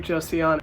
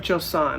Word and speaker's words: Joseon: sunscreen so much it's the beauty of joseon sorry beauty of joseon I guess I've been pronouncing it wrong for like the past few years anyway but I love